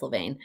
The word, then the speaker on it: Levain: how to pronounce it it's l-e-v-a-i-n i think it's levaine and they have the